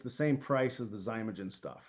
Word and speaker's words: Xymogen: So Zymogen is spelled Xymogen.